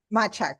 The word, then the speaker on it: Machak: Is that how you pronounce her last name? Machak, yeah. Machak, yes.